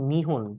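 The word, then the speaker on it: 日本: আর ওরা মূলত ডাকে নিহন এভাবে, স্পেলিংটা এটা। আর ওরা প্রোনাউন্সিয়েশন মূলত এইভাবে করে।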